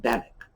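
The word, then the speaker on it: Benwick: comrades captains harville and bennek now captain bennek's name is pronounced that way the w is silent he has been uh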